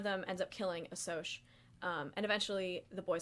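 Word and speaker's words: Socs: they call them socials which i definitely pronounce socks for the longest time until my teacher pronounced in class um and so the greasers one of them ends up killing a soch um and eventually the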